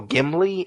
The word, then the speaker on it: Ghibli: It's a Studio Ghibli. Is that how you pronounce it? Yeah.